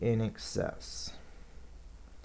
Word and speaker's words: INXS: the letter i to in excess in excess is or in x s I don't know everybody pronounces it as in excess but it's n i x s in excess uh this